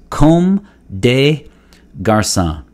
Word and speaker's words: Comme des Garçons: in french and so comb like comb your hair comb day day of the